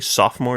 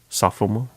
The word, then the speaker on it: sophomore: You don't pronounce it, it's silent. A silent O.